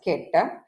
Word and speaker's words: ket: That is, if I am breaking down it further, so this vertical bar is pronounced as ket, and the Greek letter, this Greek letter is pronounced as psi.